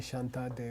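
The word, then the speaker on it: Śāntideva: gave our dumb car you can spell it either way in sanskrit you can say Shanta day where you can say shanty dama I think it's primary say shantideva and when we get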